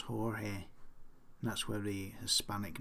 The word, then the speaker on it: Jorge: she said okay so the name George and team George they must be pronounced Jorge that's where the Hispanic